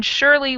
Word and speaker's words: surely: a long a sound and then shirley which just uses an s but it sounds like an sh totally strange and the